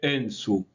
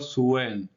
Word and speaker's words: Suen: Y vamos a entender que en su no se pronuncia así, sino que debemos pronunciarlo suen, que después termina siendo sim, y que significa el señor que conoce o señor sabio, gobernador sabio.